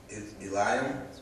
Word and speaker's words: Eliam: And someone said, "Is this not Bathsheba, the daughter of Eliam?" That's how you pronounce it.